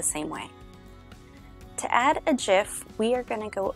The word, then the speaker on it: GIF: how to add a jiff to your blog post in WordPress although it is spelled with a G it is actually pronounced jiff like the peanut butter gifs have brought us